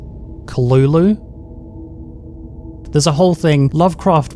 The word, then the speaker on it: Cthulhu: creator of the apparently cthulhu is supposed to be pronounced like kalulu there's a whole thing